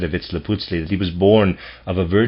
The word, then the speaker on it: Vitzliputzli: The name given to this being may be expressed by a combination of syllables that approximate Vitzliputzli.